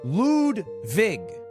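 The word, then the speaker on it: Ludwig: that song okay okay my name is lwig but it's pronounced lud Vig ludvig okay are you got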